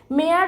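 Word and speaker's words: Maillard: physics मुख्य भूमिका बजावते मेड अभिक्रिया जस स्पेलिंग आहे एम ए आय एल एल ए RD reaction पण उच्चार थोडा वेगळा आहे आणि कॅरमल यांसारख्या रासायनिक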